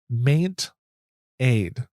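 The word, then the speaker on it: MaintAid: another app is called maint Aid so mate like maintenance and Aid so it's spelled m AI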